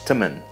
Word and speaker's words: teman: And one more small difference we can see is that the word for friend, teman, is pronounced more like temen.